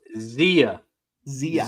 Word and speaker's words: Zia: Yeah, I was told it's pronounced Zia. Zia.